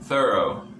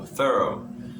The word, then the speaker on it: thorough: And another example, thorough. So it isn't an E, right? It isn't a U, it's a. Okay, so thorough.